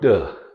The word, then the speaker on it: to: So to in the American English is pronounced t, or duh. And again, duh as in flap sound.